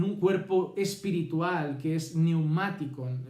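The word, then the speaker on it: πνευματικόν: cuerpo espiritual que es neumáticon. Empieza por una P y la C, esta neumáticon, es una K.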